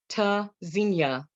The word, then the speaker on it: Tzynya: Pronounced Tzynya, verb from Hebrew, meaning to listen for or hear. Spelled Tzynya. The first letter T is a stop, disrupts airflow, quick, sharp staccato.